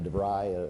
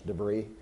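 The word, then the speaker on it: DeVry: like that so while we got into debry a suburban Chicago located company that nobody knew about and everybody pronounce debris at the time we eventually covered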